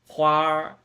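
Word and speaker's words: 花儿: อ่าน ว่า อะไร ครับ อ่าน ว่า quar ม้วน ลิ้น นะ อีก ครั้ง นึง มา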